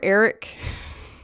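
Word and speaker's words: Erech: ambar amak and Eric remember Eric it's spelled e-r-e-c-h but I just think of Eric like Eric Forman from That 70s Show anyway and the mountain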